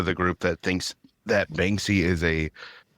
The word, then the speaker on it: Banksy: Which didn't they come out with Bansky's true identity? Banksy? They did. Oh, I'm saying his name wrong.